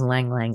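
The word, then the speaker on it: ylang-ylang: sleep but if you have anxiety um try Lang yang because ylang ylang oil which is spelled y-l-a-n-g-y-l-a-n-g that oil that essential oil is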